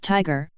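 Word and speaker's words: TIGHAR: found the crash site tyre pronounced Tiger is an acronym for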